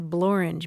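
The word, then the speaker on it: Blorenge: Wales it's called the blor b l o r e n g e I was so excited you know a word that rhymes with orange yes the boring we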